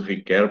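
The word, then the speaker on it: Ricœur: seu discípulo e ricas Ricardo se escreve coeus não e a gente diz o Ricardo porque é francesa né E aí ó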